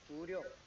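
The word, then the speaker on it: 구룡: It sounds like Guryong. So this is our Korean way of pronouncing the Chinese letters.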